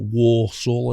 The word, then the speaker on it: Walsall: Born in Walsall, or Warsaw, as I think they spell it Worsul, something like that. But Walsall.